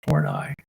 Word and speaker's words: Horney: There was an existential psychologist named Karen Horney, Horney, pronounced Horney, and she used the phrase "the tyranny of the shoulds."